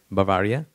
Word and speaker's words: Bavaria: of of baviera how do you say bavari Bavaria and this is the moment where he is